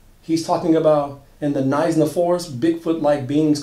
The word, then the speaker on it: Knysna: Nizhna, South Africa. It's spelled K-N-Y-S-N-A.